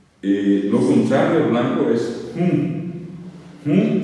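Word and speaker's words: hũ: Monotí, ti, ti es nasal, la i final es nasal, es moroti, monoti es blanco, lo contrario de blanco es hum se escribe h un nasal, h un nasal, monoti, el rojo o colorado es putain, es P, Y, T, A nasal.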